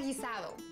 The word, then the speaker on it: guisado: It's a gizado. You spell it g u i s a d o. Sounds gizad.